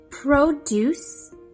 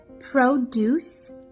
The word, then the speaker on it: produce: Produce. Say it with me. Produce means fruits and vegetables. Although it's spelled P R O D U C E, it is pronounced produce.